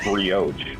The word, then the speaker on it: brioche: I highly doubt it's pronounced brioche. It's probably it's brioche. That's how you. Yeah, sorry. It's not brioche.